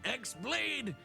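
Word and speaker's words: χ-blade: Yeah, it means the X-Blade. It's just pronounced like Keyblade, even though it's just one Keyblade.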